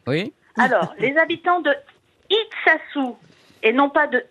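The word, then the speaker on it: Itxassou: vous avez dit comme ça, non, je prononce mal, c'est Iksassoar. Oui, oui. Alors, les habitants de Iksassou, et non pas de Ixtassou, tassou, comme vous disiez.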